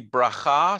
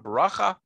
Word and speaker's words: bracha: in a verb form in a noun form it would be bracha so a blessing is bracha in sort of ashkenazi yiddish language you or pronunciation you may have the expression of baracha and the plural is